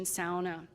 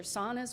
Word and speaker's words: sauna: in the use of the word pronunciation sauna. And that, of course, comes from Finnish, but also Western European languages that would pronounce the word like that.